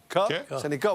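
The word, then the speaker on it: Sennecke: C'est 2 de plus chez les recrues que Beckett Seneke. Seneca, il faut changer la prononciation.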